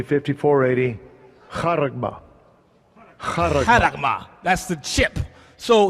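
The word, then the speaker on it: χάραγμα: So you know how it's pronounced. Strong's G 5480. Haragma.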